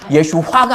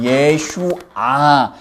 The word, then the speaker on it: 예수아: 예, 발음 정확히 하니 예수화가 아니에요. 예수아.